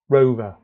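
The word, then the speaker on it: WROVER: So if we focus on this piece here, this format is what's called a rover. It's spelt with a W.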